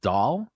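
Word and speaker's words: dhol: you mentioned is called it's spelled d-h-o-l so I'm gonna pronounce it doll and the dance form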